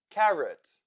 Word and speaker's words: carrot: i i u president o as sound carrot the second syllable in this word is also unstressed and that is why o sounds like o therefore o o o carrot lemon the second syllable